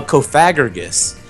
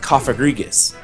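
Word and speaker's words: Cofagrigus: a Pokémon this, but I used to call it uh Kofagargus, but it's actually pronounced Kofagrigus.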